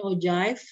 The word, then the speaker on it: ogive: kurva Ogive atau ajaib Kalau bahasa Inggrisnya Ogive ya tulisannya bacanya ozaiv nah diagram garis yang